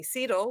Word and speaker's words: CETL: and i am most proud of is my sidl which thank you for saying it correctly which